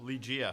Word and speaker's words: Lygia: Look how it's spelled. It says Lydia. Yeah, they did that. Hi, guys. You roar. We roll. roll. What's your name? Lydia with a G. See, Oh, there we go. Lydia. Lygia.